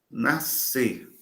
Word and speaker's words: nascer: Nascer. Nascer. É fascinante o caso de nascer, porque ele aparece com esse dígrafo, SC, que é meramente etimológico, né? Meramente etimológico. Se você tirar esse S, continua pronunciando nascer.